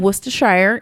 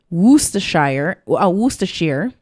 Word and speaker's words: Worcestershire: So actually, really quickly, fun fact, you can pronounce it several ways. And we always kind of joke and say every single syllable. But Worcestershire is one. Worcestershire is another one. Oh, yeah. And then Worcestershire. They're all considered correct.